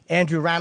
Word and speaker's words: Andrew Rannells: at home and in the studio it's a Andrew ran is how you say it okay RS and